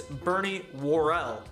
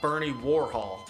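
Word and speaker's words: Bernie Worrell: not serge tonkin and it's bernie warrell not bernie warhol i also claim in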